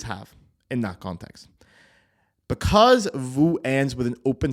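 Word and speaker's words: vous: My favorite example of this is something like vu. Okay. So vu is the polite or plural form of you. It's spelled v o u s. You don't pronounce the s. Okay. Vu.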